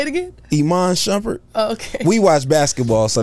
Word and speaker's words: Iman Shumpert: Iman Shumpert. He's... What? Say it again? Iman Shumpert.